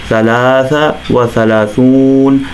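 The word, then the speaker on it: ثلاثة وثلاثون: ثلاثون کہا جاتا ہے، اگرچہ ثلاثہ پہ آپ کو تنوین نظر آ رہی ہے جو ثلاثتن و ثلاثون، اور آخر میں زبر بھی نظر آ رہی ہے، لیکن بولنے کے تلفظ میں دونوں کو وقف کے ساتھ بولا جائے گا، ثلاثہ و ثلاثون، ثلاثہ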